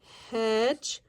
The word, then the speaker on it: hedgehog: G-E has a J sound, juh. Hedgehog.